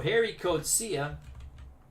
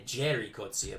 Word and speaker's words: Gerrie Coetzee: so harry kocia and when he came to america they changed it to jerry corcia but they used to pronounce it as the g was i guess like an h sound in dutch because i think afrikaners